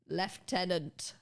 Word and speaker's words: lieutenant: We in the UK, we pronounce this word as lieutenant. Why? Fuck knows. The Queen probably said to do it once.